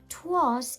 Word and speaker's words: 'Twas: It's Old English, just like Shakespeare wrote in many occasions. 'Twas is the same as it was. It just has one syllable instead of two.